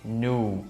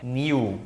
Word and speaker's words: knew: A letra K a gente não vai pronunciar, não é know, e no passado não é knew, é knew, exatamente dessa maneira. Então imagina que você está falando N e U, nu. Aí dá uma embromada na pronúncia que fica knew, e aí você está falando esse verbo no passado.